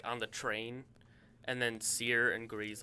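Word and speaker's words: Cere: the train and then sear and grease like fly by and you like Series in this game because their name is spelled c-e-r-e you're like Siri you're like you know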